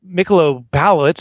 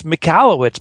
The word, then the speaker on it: Michalowicz: they become ambassadors saying, no, it's not Michalowicz, it's Michalowicz, but you can call him Michelob and Schmitz.